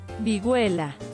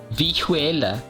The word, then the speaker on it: vihuela: Tell me how to pronounce this instrument. Vihuela. Vihuela.